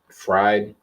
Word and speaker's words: Fried: I don't hate Freed. It's spelled Fried, whatever.